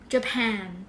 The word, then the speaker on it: Japan: ญี่ปุ่น เรา เรียก ว่า Japan Japan เน้น ที่ แน นะ คะ ใน ขณะ